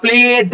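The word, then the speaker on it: played: लेकिन प्ले में जब लगाएंगे ईडी तो द होगा, प्लेड।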